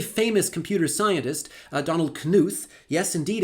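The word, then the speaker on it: Knuth: A very famous computer scientist uh Donald Kuth. Yes indeed it's pronounced kuth. It's not a silent K.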